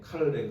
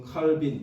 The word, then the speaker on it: 칼뱅: 존이라고 하는 사람입니다 어 원래 발음은 칼이에요 칼뱅 그런데 이제 영어식으로 칼빈 이렇게 얘기를 합니다이 칼뱅 또는 칼이라고 하